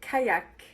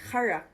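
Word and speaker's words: qajaq: Everyone pronounces it kayak, but it's actually harak. Harak was an invention made by the Inuit and it was used to travel and hunt. Foreigners didn't know how to pronounce harak, so now it's kayak.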